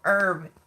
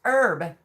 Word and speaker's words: herb: It's still herb. No, see, Paul's doing it's still herb. Girl, laugh out loud. No, it is pronounced herb. Herb. The H is silent.